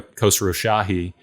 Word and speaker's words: Khosrowshahi: But, also long term, Dara Khosrowshahi, Uber CEO, has said that he does.